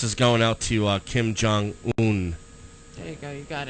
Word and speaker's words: Kim Jong-un: there listening in uh North North what what Kim Jong-un yeah that's right Kim Jong-un yes that's how you pronounce it what'd you say Kim noon okay